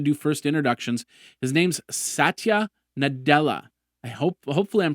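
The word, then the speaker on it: Satya Nadella: he's going to do first introductions his name's SAA nadela I hope hopefully I'm pronouncing it right s a t y a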